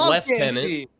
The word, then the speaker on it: lieutenant: Have you I mean I mean the British pronounce lieutenant left tenant.